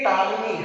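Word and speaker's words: Ptolemy: ये टालमी है, वैज्ञानिक के नाम है बेटा पी साइलेंट है।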